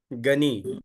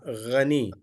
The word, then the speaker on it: Ghani: Gani. Gani is not the correct one. Gha, Ghani. Ghani is the correct name. Some people have the name Ghani. So, but we mispronounce the name as a Gani, Gani or Ghi. In both way, it is not correct.